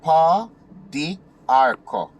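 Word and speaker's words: pau d'arco: And I'm going to spell it for you. P-A-U space D apostrophe A-R-C-O. Arco. Right? So that's pa, di, arco.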